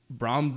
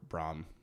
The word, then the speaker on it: Brom: you can give Brom, let him do one of those.